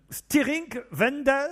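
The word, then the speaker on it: Stiring-Wendel: lui alors là Alexandre excusez-moi mais il faut prononcer j'imagine Stiring Wendel c'est ça très bien vous-même et c'est en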